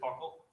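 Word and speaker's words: buccal: buckle swap yes oh it's pronounced bar i usually say is it buckle i say buckle all right great what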